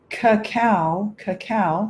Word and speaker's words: cacao: I added cacao, C-A-C-A-O, cacao powder. That's why I put the pronunciation up in the top.